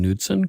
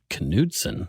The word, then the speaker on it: Knudsen: much and and you pronounce your last name nudson correct nson actually Knudson yeah it's Viking it'san so you always pronounce the k oh you yeah canson interesting so canson